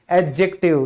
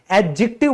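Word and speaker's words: adjective: तो दोस्तों याद रखिएगा ये जो डी है ना ये हमारा साइलेंट होता है। तो कई जो मैंने टीचर देखे हैं वो कहते रहते हैं एडजेक्टिव पढ़ाएंगे, आज एडजेक्टिव करेंगे, ये बिल्कुल गलत प्रोनाउंसिएशन है। एडजेक्टिव बोला जाता है क्योंकि डी तो है ही नहीं यहां पे, वो बोला नहीं जाएगा, साइलेंट है।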